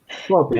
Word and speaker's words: popis: The word is pronounced Poppy. Popis.